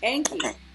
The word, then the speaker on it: Enki: Enki. Yeah, Enki.